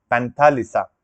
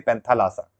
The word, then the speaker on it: Panthalassa: का नाम था फ्रेंड्स मेंथालीसा क्या था मेंथलीशा नहीं पंथ्लसा ठीक है शायद मैंने